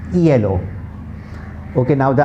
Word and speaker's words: hielo: Okay, H is the only alphabet in the Spanish language that's always completely silent. It has no sound.